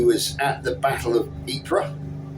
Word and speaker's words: Ypres: at the Battle of Ypres, or Wipers as he would have called it.